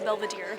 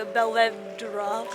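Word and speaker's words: Belvedere: say anything right because that museum was actually called the Belvadier, not the Belvra, whatever the hell I said.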